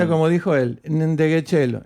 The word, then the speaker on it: Ndegeocello: Así Es se Reggie pronuncia Zapping. como dijo él. Ndegeocello. Ndegeocello. Ndegeocello.